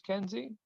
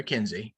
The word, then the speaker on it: Kinsey: And during the episode 20 politics, it goes into how there's this senator, I want to say his name's Kenzie. Is that right? Yep. Senator Kinsey.